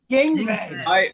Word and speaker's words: Yngwie: Yngwie.